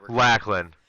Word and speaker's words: Lachlan: see in the dark Lain by the way lacklin that that is actually I don't know where I got the alternate pronunciation from last week that's what I meant